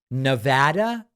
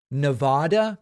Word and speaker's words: Nevada: your stuff but it's it's pronounced Nevada not Nevada I can't seem to get it right and part of the problem is that this is a word that's in Spanish which means a snowstorm NADA NADA and what's